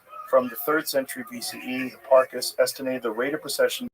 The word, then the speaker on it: Hipparchus: Hipparchus? Yeah, Hipparchus.